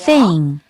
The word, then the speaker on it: thing: Thing. How about thing? Thing. 여러분 thing 이라고 하는 발음은 어떻게 해야 돼요? 혀가 나와야 돼요. Thing, thing. 이렇게 혀를 살짝 베어 물듯이 혀가 보이도록 여러분들이 잘 확인을 해줘야 되고요.